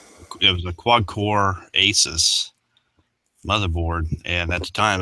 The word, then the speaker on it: ASUS: Everybody else they're like Asus or whatever.